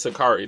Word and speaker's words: Sha'Carri: I forgot how to pronounce her name. I'm pretty sure it's Sakari though.